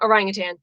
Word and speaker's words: orangutan: ask how it's pronounced there is no g in the name orangutan oh now they're all